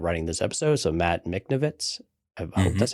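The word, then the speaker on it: Michnovetz: that ended up writing this episode so Matt miknovitz that's how you pronounce it which is fine but it was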